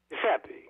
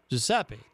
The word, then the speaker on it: Giuseppe: Giuseppe or Giuseppe? How do you say that? Giuseppe. Giuseppe. Okay. Giuseppe.